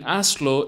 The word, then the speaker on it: hazlo: Now the H in hazlo is mute. It's almost as if it weren't there. It's very important that you know it is there, because it's quite poor form to grammatically misspell something in Spanish. But when spoken out loud, you can act as if it didn't exist.